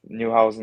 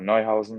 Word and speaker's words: Neuhausen: Yeah, there's many ways to pronounce it. I just stick with Neuhausen or Neuhausen or whatever you want to say.